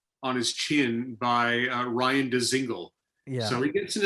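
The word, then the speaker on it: Dzingel: I love the fact that his name, you literally pronounce every letter in his name. Isn't it nice? Yeah, like there's no silent. It's not like Django where he's like the D is silent, hillbilly. Like it's straight up DeZingle.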